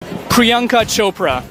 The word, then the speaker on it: Priyanka Chopra: It rhymes with Oprah. Priyanka Chopra.